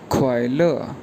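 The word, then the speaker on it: 快乐: उसके लिए जो वर्ड चाइनीज़ में यूज़ किया जाता है उसके पिनियन है QUAILE, दोनों पे फोर टोन है, तो ये प्रोनाउंस किया जाएगा ख्वाइल।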